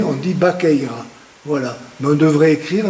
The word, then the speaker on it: Baqueira: Normalement, Baqueira c'est Vaqueira, mais on prononce le V, se prononce en B, on dit Baqueira. Voilà. Mais on devrait écrire notre station de Vaqueira, mais on prononce Baqueira.